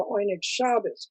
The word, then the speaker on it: Oyneg Shabes: they called themselves the oynikshabas group which is of course the yiddish pronunciation of what we call what we would say